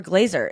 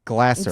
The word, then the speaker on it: Glaser: doesn't care for Glazer is it Glasser is it GL Glazer well I have a friend who's last name is Glazer it's not it's Glasser spelled glaz and spelled my name spelled the same way listen there's an S so it could go either way but that one's wrong okay so you you invested